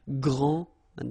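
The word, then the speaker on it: grande: you don't the day here and you don't pronounce the final s okay so gr and then same thing here gr and regarding the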